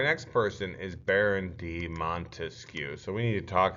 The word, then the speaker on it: Montesquieu: Obviously, I'm not your English teacher, but he clearly has 3 syllables in his name.